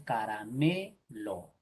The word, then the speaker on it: caramelo: Che, Si ponemos el acento en la última sería caramelo. Si pongo el acento en esta altura sería caramelo. Si pongo por acá sería caramelo. Por acá, caramelo. Y la forma correcta es caramelo.